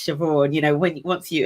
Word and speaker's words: Siobhan: "How do I pronounce this word that looks like sea barn?" And I was like, "Oh, that's Siobhan."